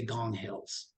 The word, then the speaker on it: Ngong Hills: the base of the Ngong Hills. Well, that's spelled Ngong. Here they don't pronounce the N, they say Gong Hills.